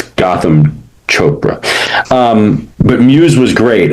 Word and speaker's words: Gotham Chopra: It's Gotham Chopra.